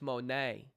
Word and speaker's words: Monet: It's not money, it's Monet.